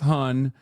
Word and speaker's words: hon: It's pronounced Han, but it's spelled Han, H-O-N, and it's like,